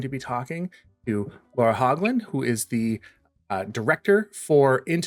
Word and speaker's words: Hoglund: We say Hoglund, oddly enough.